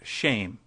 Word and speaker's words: Shem: which is the very Hebrew word for name which is Shem pronounced shame we might as well